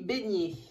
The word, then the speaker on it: Besnier: C'est Marie Beignet. Elle s'appelle pas comme le beignet qu'on mange, mais ça s'écrit B-E-S-N-I-E-R.